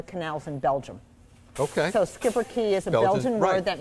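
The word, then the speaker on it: Schipperke: the the breed okay so this is a skipper key yep it's spelled funny it's s-c-h-i-p-p e-r-k-e the word means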